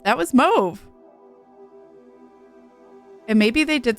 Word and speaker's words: Mauve: I'd actively remind myself it's pronounced Move. That was Mauve.